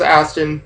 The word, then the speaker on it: Aston: i say odds are i say meg it's aston jeremy gets the viper and hammond gets lfa